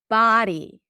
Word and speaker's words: body: Body. Ba. Ba. And yes, it is a different than buddy. He's my buddy and that's my body. Ba. So the tongue pulls back. It is It feels like a rounded sound because the sound resonates in the back but the lips are not rounded.